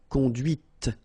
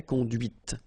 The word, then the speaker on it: conduite: And that's when you hear the difference between conduit, because remember, final T is not pronounced, conduit, here, and then the feminine, conduite. Okay, so here you can listen to this t, t, okay, conduite, all right?